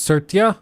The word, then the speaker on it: Satya: Like, it's just It's pronounced Satya.